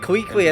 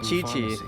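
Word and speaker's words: Qiqi: Let's see what uh I said Quiqu. I think you pronounce it Chi-Chi.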